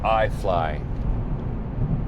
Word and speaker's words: iFly: Well, that's uh just driving by a place called iFly. And yeah, it's spelled I F L Y.